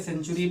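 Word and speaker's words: century: ई आई हुई है तो इसको क्या पढ़ा जाएगा सा से उच्चारण किया जा रहा है ठीक है सेंचुरी पढ़ा जाएगा ठीक है ये भी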